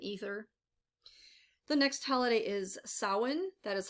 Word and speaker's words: Samhain: water fire and ether the next holiday is samhain that is how this is pronounced this is also known as halloween of